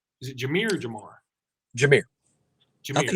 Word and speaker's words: Jahmyr: Jameer.